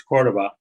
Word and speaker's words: Cordova: was practicing for this noticing that i mispronouncing your name uh it's cordova uh i just got